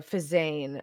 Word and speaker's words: Phezzan: 2 billion in Fazan, Right. or Fazane, as the narrator sometimes says. It's spelled Phezzan. I don't know how he gets Fazane.